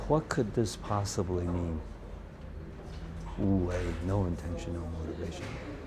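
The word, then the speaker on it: 無: Wu wei, no intention, no motivation. So in the Zen tradition, wu, where in Japanese they pronounce it mu, also means nothingness.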